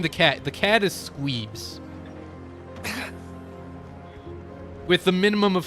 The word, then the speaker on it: Squeebs: The cat is Squeebs. With the minimum of 3 E's. It varies how you want to spell it, depending on how long you want to say that.